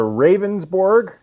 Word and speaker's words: Ravnsborg: The options are Ravensborg, Ravnsborg.